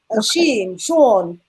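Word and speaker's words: Jean: our brother sean yeah sean j-e-a-n but pronounced the french way from haiti he said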